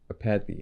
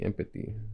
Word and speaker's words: apathy: It's pronounced apathy. I thought it was pronounced empathy. I don't know why. There's no M in there.